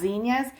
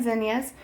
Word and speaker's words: zinnias: So zinnias, I've heard it pronounced zinnias and zinnias, both ways, and salvia.